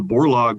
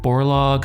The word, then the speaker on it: Borlaug: ideas and concepts and i think with the borlaug scholarship students have an opportunity to work with